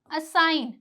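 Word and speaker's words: assign: ठीक है, एक और रूल देखिए, जी के बाद एन आए तो जी साइलेंट होगा। जी के बाद अगर एन आ रहा है तो जी क्या हो जाएगा? साइलेंट हो जाएगा। जैसे कि साइन, असाइन, तो यहाँ पे एन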